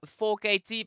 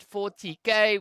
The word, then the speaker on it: 4KT: So the proper way to say it is 4KT, but we've heard many different versions of that, right? We've heard 4TK, we've had, I don't know, pick a mix, right?